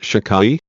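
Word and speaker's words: Shaddai: this name and the sefira a victory eternity pronounced shicai this is the holy name whose literal meaning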